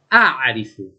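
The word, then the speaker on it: أعرف: 3asal, non impossibile direi, è certamente più difficile pronunciare la 3ayn dopo una vocale e prima di una consonante, come ad esempio nella voce verbale araba a3rif che significa so, conosco, come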